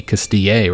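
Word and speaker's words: Castilla: I think in Spanish, that'd be Castille, right? I mean, I would think so. Because the L's are like either a silent or a kind of a Y sound.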